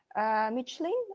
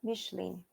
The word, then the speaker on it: Michelin: everyone got it right this time so exactly michelin or michelin all of you are right number three natalia